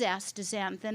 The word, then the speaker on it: astaxanthin: It's a little bit hard when people see the X in the middle of the word to understand how to say it, but if you just change that X to a Z, it flows nicely.